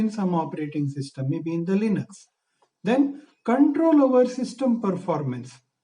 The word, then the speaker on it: Linux: Some people will call it as a Linux. But the pronunciation is Linux. Lenux.